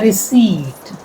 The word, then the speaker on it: receipt: A receipt. P silent.